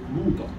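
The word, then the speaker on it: مؤتہ: جنگ موتا تھی، جنگ موتا، اس کا صحیح تلفظ موتا، جنگ موتا۔ قربان جائے ذرا آپ حیران ہو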